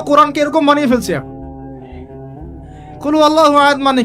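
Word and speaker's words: قُلْ هُوَ اللَّهُ أَحَدٌ: কুল হুয়াল্লাহু আহাদ, এটা কি সব একসাথে মিলে একটা শব্দ?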